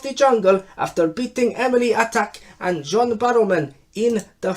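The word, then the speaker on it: Atack: Harry Redknapp is new king of the jungle after beating Emily Attack and John Barrowman in the final. It's pronounced attack, not attack.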